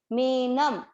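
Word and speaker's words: मेनम्: मेनम, ये न पे जो है अनुस्वार है, और इसका उच्चारण हम क्या करते हैं? आधा म, मेनम।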